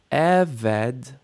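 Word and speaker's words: עֶבֶד: Vayhi acharei mot Moshe Eved, initial stress, Eved.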